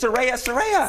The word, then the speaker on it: Saraya: It's Saraya. Saraya, like a ray of sunshine.